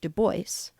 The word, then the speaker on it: Du Bois: Du Bois, 1868 to 1963, pronounced Du Bois, wrote essays and articles about virtually everything concerned with America's struggles with racial identity.